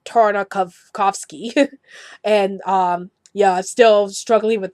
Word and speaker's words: Tartakovsky: his last name and I kind of miss Purdy as thar Navasky and it's really tartakov coughs key and yeah still struggling